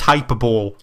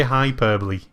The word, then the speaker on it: hyperbole: That word says hyperbole. It does not say hyperbole.